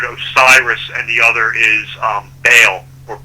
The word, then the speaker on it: Baal: It derives from the Jewish Jehovah or Yahweh, and the other two syllables come from pagan gods. One is considered Osiris, and the other is Baal or Baal.